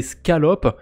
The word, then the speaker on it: Scallop: Saint-Jacques en français donc attention à bien prononcer le C hein c'est scalop le protocole en anglais et euh bah c'est